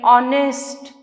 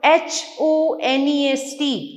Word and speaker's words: honest: Some words begin with silent letters. Silent letters like honest, our, HONEST, honest. H से शुरू हो रहा है, but H is silent.